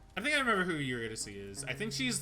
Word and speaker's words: Eurydice: I'm Eurydice.